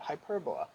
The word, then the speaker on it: hyperbola: is called a hyperbola we spell it hyperbola we say it hyperbola you'll see the other